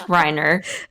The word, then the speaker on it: Reiner: and their names being it's reiner okay you gotta say it right they'll say right don't